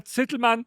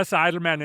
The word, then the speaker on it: Zitelmann: It's in German, Rainer Zitelman, but I know it's easy. Rainer Zitelman, and this is the American version of my name.